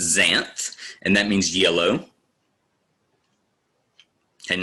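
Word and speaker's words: xanth: it this is pron the x is pronounced as a z so it's Zan and that means yellow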